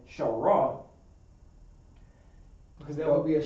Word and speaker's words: Shar: On this Ra, you gotta drop out the A, so drop make it pronounced Shar, S-H-A-R.